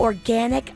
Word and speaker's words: Organyc: the complete protection of organic feminine care products. Now, it's 100% certified organic cotton throughout all of their products. Organic, spelled with a Y, so it's ORGANYC, is authentic and it's pure.